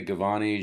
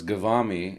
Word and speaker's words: Ghavami: well because people say gavani Giovanni so it's gavami and it sounds like salami as far as the syllables so the ashkavami ash